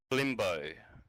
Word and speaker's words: Flimbo: it is so is it limbo or fimbo fimbo yeah F I mean f l i m